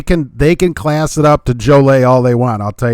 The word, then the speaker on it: Joliet: Joliet is pronounced Jolay per the locals.